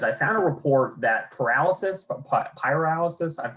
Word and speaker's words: pyrolysis: So my first question is, I found a report that pyrolysis, I'm obviously mispronouncing it, it's not paralysis.